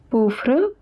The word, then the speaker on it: pauvre: Pauvre pronounced as pauvre meaning poor.